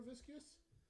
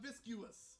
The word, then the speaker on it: viscous: It's not super viscous. Viscous, not viscuous. I don't know, I like viscous. Viscous is a better word.